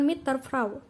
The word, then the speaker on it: mit der Frau: contohnya dalam bahasa Jerman Mit Der frau diucapkan mitter frraw bunyi D pada kata Der berubah menjadi Bunyi t sebagai akibat dari pengaruh